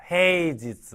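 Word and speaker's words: 平日: 그래서 평일 일을 때는 지즈를 이용하는 거예요 헤이즈 헤이지스 하게 되면 평일 지지로 읽는 거 오늘 이럴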